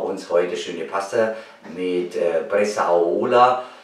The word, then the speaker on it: Bresaola: Und da machen wir uns heute schöne Pasta mit Bressaola. Also ich glaube, so wird es richtig ausgesprochen. Ist auch lieber Bressaola, aber Bressaola ist wahrscheinlich das richtige Wort.